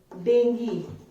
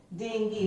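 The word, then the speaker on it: dengue: Okay, so first word is, this is डेंगी. जो mosquito के bite करने से होता है, this disease is called डेंगी, नॉट डेंगू, इट्स डेंगी.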